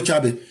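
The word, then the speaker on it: Chávez: Quand lui Nicolas Maduro prend il dit Hugo Chabe ne savait même pas c'est Hugo Chabè mais quand tu prononces en espagnol Hugo Tchabe.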